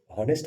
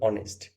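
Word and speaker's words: honest: অনেকজন এখানে একটা ভুল করে, অনেক ছাত্র এটাকে হনেস্ট বলে উচ্চারণ করে, কিন্তু অ্যাকচুয়ালি এর যে উচ্চারণ সেটা হনেস্ট হবে না, এটা হবে অনেস্ট, অনেস্ট ম্যান।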